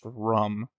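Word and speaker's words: Ruhm: I think it's actually pronounced rum.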